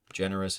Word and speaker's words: generous: ambitious generous ambitious generous generous is the first syllable stress ambitious is the Bish